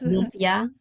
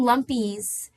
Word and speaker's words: lumpia: Am I pronouncing that right? Yes, lumpia. We've had some some names. People will come in, it's really funny. They'll be like, "Oh, I want some lumpies."